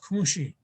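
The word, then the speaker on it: kȟuŋší: But when you talk at patrilineal, when you talk about your father's side, your grandmother on your father's side is pronounced kunshi.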